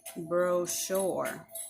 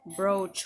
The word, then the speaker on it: brochure: words for example like sh can also sound like CH and an example word for that would be brochure bro sure here that Sh sound is on this CH so instead of here it sounds like bro or instead of saying brooch or bro a safe sound instead of Chuck so the word is brochure not brooch or that's one example